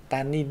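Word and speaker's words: 他人: Tha nhân là người khác và cách đọc của nó là tanin nhé.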